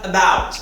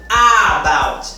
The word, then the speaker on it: about: Logo, não deve ser pronunciado about. Não é com essa ênfase toda. Nesse caso, o schwa não representa a ausência total da pronúncia dessa letra, mas apenas uma pronúncia diferenciada, uma pronúncia mínima, disfarçada.